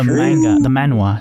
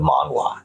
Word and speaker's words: manhwa: Ooh, you told me the manhwa, sorry. Yeah, no, we call it manga because manhwa is really hard to pronounce. It's a W instead of a G.